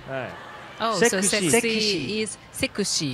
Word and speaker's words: セクシー: はい Oh, so sexy is sekushi. Sekushi. Sexy is in Japanese pronunciation sekushi.